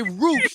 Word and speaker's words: Rush: Okay, Roosh, the former Ring of Honor World Champion, Roosh. Okay, it's spelled Rush, but it's pronounced Roosh.